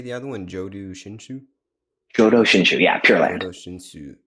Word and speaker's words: Jōdo Shinshū: Jōdo Shinshū, yeah, Pure Land.